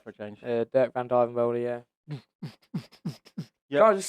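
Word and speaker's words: Dirk van Duijvenbode: Dirk van Dijvenbode, yeah.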